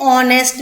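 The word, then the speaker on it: honest: आगे एच होता है, बट वो एच साइलेंट रहता है। एन ऑनेस्ट मैन, अगर जब आप इसको ध्यान से सुनेंगे, ऑनेस्ट ओ की आवाज है, ऑनेस्ट ओ की आवाज आ रही है, साउंड जो है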